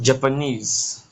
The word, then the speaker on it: Japanese: We have Japanese. Same way we have manganese. So manganese, the ESE is more stressed.